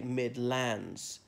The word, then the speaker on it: Midlands: Notably in the Irish Midlands, people like accentuated differently and said to say Midlands, laying the stress on the second syllable, not the first.